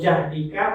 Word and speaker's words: jahdika: Kalau jahdika maknanya semampu, kalau juhdika kesulitan. Itu bedanya.